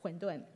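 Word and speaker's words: 混沌: Mandarin, you would know, huǔndùn is the same pronunciation as primordial chaos, huǔndùn.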